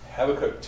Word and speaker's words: Habakkuk: are quoting Habakkuk 2:4 or Habakkuk and you pronounce it have it cooked - for behold the